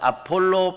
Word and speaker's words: 아볼로: 베러 들어 같잖아 여러분 그 다음에 아볼로 원래 발음은 요 아폴로 비행할 때 그 발음이 올라 맞는 아폴로 야 그런데 항산 d 발음이